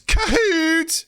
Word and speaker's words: Kahoot: gotta love them but you have to say it the right way which is kahoot you gotta say it